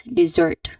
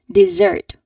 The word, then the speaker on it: dessert: All right, the correct one is dessert. Second syllable is stressed. Now, can you um can you try to say it with me? Let's all say dessert. Again, dessert with emphasis on the second syllable.